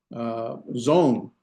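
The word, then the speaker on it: צאן: What this aleph is a quiescent aleph. Remember, we had a quiescent aleph. There's no pronunciation to it.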